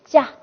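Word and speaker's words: ཅ: 加，它的发音方法呢？发音方法是不送气的清塞音。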